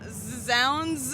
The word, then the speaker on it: zZounds: Z Zs is that your final answer yes Zounds we got a winner here we got a